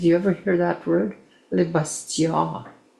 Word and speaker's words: Le Bastion: Le Bastion. And that's how you say it.